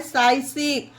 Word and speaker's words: psychic: ये देखिए guys PSYCHIC इसे पढ़ा जाता है साइसिक। यहाँ पर भी पी साइलेंट है क्योंकि पी के बाद एस आया है तो इसे साइसिक पढ़ना।